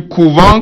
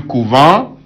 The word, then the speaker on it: couvent: Vous savez, à ce niveau, nous avons les mêmes écritures, mais ça ne se prononce pas de la même manière.